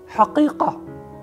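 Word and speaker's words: حقيقة: It has two very important Arabic letters which are important from the point of view of pronunciation. So it has ha and qaf, ha, qaf, haqiqa, haqiqa, not haqiqa, ha, haqiqa, haqiqa.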